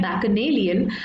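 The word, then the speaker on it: bacchanalian: सो ये हिंदी में ऐसे बच्चन जैसा लग रहा है बट एक्चुअली में इसका प्रोनाउंसिएशन है बैकनेलियन.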